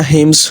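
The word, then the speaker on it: hymns: तरह से क्रिश्चियनिटी में हाइम्स होती है इसको हाइम्स या हिम्स दोनों तरह से प्रोनाउंस कर सकते हैं आप और उसी की इसी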